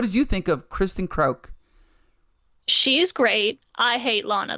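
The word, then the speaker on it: Kreuk: Okay, what about one of my favorite characters, which is, you can help me pronounce it, is Kristen Krauk? Is it Kristen Krauk? Sure. Krauk as Lana.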